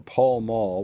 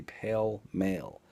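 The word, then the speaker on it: Pall Mall: or camel or or paul mall which today i heard someone in line say pale male p-a-l-m-a-l-r-p yeah google it that's how you spell it it does it's not pale it's paul way off topic but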